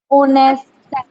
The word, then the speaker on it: honest: HONEST, ओनेस्ट, हाँ ओनेस्ट भी होता है, ठीक है।